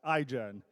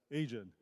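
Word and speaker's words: Aigen: Our company's name is pronounced iGen, but often people mispronounce it as Asian.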